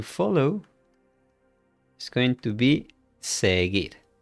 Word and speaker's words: seguir: To follow is going to be seguir. Okay, remember we don't pronounce this one, la U.